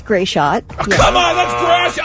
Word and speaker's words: Gratiot: They usually say Gray Shot.